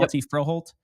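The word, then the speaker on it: Hjalte Froholdt: Hjalti Froholt.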